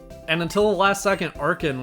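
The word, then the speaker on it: Archen: until the last second arkhan was going to be on my team arjun whatever however you prefer to pronounce it but i'm pretty sure the correct way is arkhan uh it's gonna be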